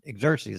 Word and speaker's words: Xerxes: Who refused to appear before King Exus Exerxes and lost her crown? Exeries, that is the way you pronounce it.